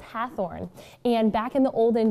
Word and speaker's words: Hathorne: why the different spellings yeah so it's actually pronounced hathorne and back in the olden days the teacher